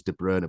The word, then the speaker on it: De Bruyne: in Syria because as I say the correct pronunciation is de Brerna but anyway That's beside the point.